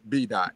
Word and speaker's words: BDaht: love me even though my name is pronounced b-dot it's perfectly fine it's